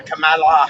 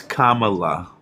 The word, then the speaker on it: Kamala: Maybe you should learn to pronounce her name right first. Yeah, Kamala Harris. Yeah. No, it's Kamala.